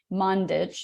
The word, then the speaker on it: Mandić: show notes but um mundich is how you say your last name uh but it's yes